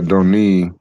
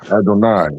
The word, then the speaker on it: Adonai: So the maserites using the vow points for adoni or adoni. Adoni using or Adonai, I'm sorry.